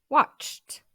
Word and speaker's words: watched: I watched. Le dernier son est en ch. On prononce le ED t.